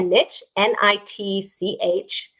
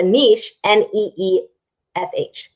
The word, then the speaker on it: niche: you call it a niche n-i-t-c-h or do you call it a niche n-e-e-s-h so that's how you can spell